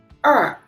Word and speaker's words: 二: is this one, 2, 二 When you pronounce 二 your tongue, it have to be screw up, 二 Right?